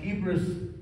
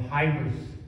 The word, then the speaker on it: hybris: of it already and the word is sometimes pronounced hebris or hibrous and I looked in